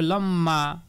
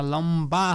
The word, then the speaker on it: লম্বা: শেষে ব যুক্ত হয়েছে অনেকে আবার বলবে যে হ্যাঁ এখানে তো সবার শেষে ব যুক্ত হয়েছিল তখন দ্বিতীয় উচ্চারণ হয়েছে তো সেই অনুযায়ী এখানে হবে লম্মা কিন্তু না এটা তো লম্বা হচ্ছে না লম্বা হচ্ছে এটার কারণ কি এটার কারণ হচ্ছে ম ব্যঞ্জন মনের সঙ্গে যখন বফালা যুক্ত হবে তখন ব এর উচ্চারণটা অবিকৃতই থাকবে এটাকে দ্বিতীয় উচ্চারণ করা যাবে না লম্বা কম্বল কারণ এখানে